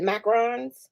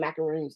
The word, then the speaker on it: macaron: one look at the is it macarons is that how you say it i love the necklace they're my favorite i always call them macaroons though i know i say it wrong but i just like the way macaroon sounds better okay so let's get